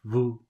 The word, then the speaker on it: vous: I hear listen to the right way and the wrong way do you hear that the the correct way is Vu and the wrong ways like in English 15.